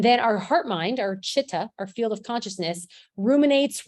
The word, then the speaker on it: chitta: This yoga is a study of yourself, and chitta is how you pronounce that word, is the heart-mind field of